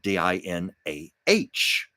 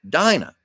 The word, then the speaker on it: Dina: My parents spelled her name Dina, but pronounced it Dinah. So my poor sister has gone through her whole life, literally her whole life, going, no, my name is not Dina. It's Dinah.